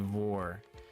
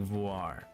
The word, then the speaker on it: Gardevoir: Cuz I've always said like vore, but I think it's like voir, you know, like noir, but voir high HP and speedf kind of crazy. Pretty sure it's supposed to be like voir and not vore, but I've always said guard of war.